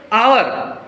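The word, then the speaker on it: hour: है घंटा है ना आवर एच साइलेंट रहता है भले ही कंसोनेंट साउंड कंसोनेंट लेटर पहला लेटर है लेकिन इसका साउंड वावेल साउंड है एस साइलेंट है आवर दैट्ची इसका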